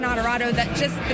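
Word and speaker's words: Onorato: the sign and said some of you have trouble saying my name it's adorado that just the name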